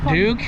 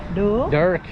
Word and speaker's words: Dirk: Dirk. Duke, not Duke. Dirk.